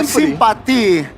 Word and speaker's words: Simpati: Then buy Sympathy or Simpati if you pronounce it in Indonesia and enjoy lots of